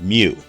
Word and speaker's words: mu: dipole moment is represented by the letter mu pronounced mu so in other words we always could put